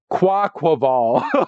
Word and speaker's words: Quaquaval: That one's hard to pronounce. Yeah, Quaquaval is what it is, and that's a water fighting.